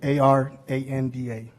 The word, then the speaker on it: Aranda: My name is Aranda, that's, and Aranda is A-R-A-N-D-A. Now pronounce the R, right? Aranda.